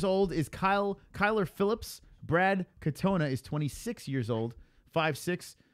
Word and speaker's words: Katona: How do you say his name? Katana or Katona? Katona? I think it's Katona. All right, so you don't know. No, I'm pretty sure it's Katona.